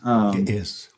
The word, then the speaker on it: Ge'ez: Is that how you pronounce it? It is, Gies.